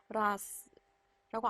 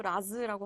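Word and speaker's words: raz: 라스. 제가 라즈라고 안 하고요. 라스. 지난 시간에 분명히 배운 대로 발음하시면 라스라고 안 하시고 라즈라고 하셨을 수도 있어요, 여러분들.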